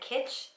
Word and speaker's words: Kitsch: from Ulta they're from the brand kitch I think it's how you pronounce it ki t SC H so I picked these